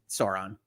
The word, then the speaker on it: Sauron: you you need to think about how that pronunciation works if you if you de-accent it for yourself anyway so Sauron I am sorry people that are disappointed that I call it soron but not nearly as disappointed as David is